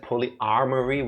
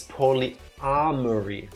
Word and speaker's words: polyamory: I mispronounced it, right? I said polyarmory, which would imply multiple armories, as in like weapons and armor. It's polyamory, right? Without the R after the A, as in multiple loves.